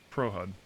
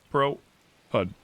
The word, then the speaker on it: Pro HUD: It's the Pro Hud. Two words. Pro Hud.